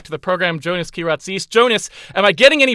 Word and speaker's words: Kyratzes: please welcome back to the program joining us ki razies jonas am i getting any better at pronouncing your name yes that was very good